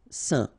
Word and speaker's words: saint: Alright, so final T not pronounced, and then when you combine this A-I-N here, you get the un sound. Saint.